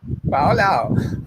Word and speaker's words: Faulao: How do you pronounce Faulao? No? Perfect. FOMO. Faulao.